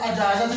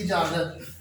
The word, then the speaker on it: اجازت: ہے وہ ہے اجازت۔ لفظ اجازت نہیں ہوتا، الف کے نیچے زیر آئے گی، اجازت۔ اس سے اگلا لفظ